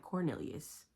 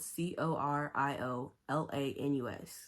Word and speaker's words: Coriolanus: like cor coriolanus and every time I read it I'm like Cornelius no way cuz some people call him Coro for short and it's spelled c o r i o l a n u s coriolanus I'm not doing that